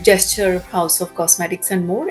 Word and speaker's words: JSTOR: name and pronunciation is gesture which is basically English word gesture g e s t